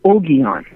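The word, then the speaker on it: Ogion: I say Oon. Oon. Yeah. My the G's as in GD are generally hard. That's I thought since Ged was that maybe Oon would be too, but I didn't know.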